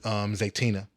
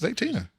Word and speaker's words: Zaytinya: Oyamel and Zaytina.